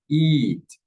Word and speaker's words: eat: Okay, the difference, as you can see here, is that the I sound is longer in the verb eat, eat, eat, eat, eat.